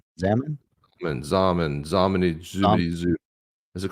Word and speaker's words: Xaman: Is it Shaman or Zaman? It's Zaman. Is it a Z? Rhymes with Shaman. Zaman. It's XAMAN. Zaman.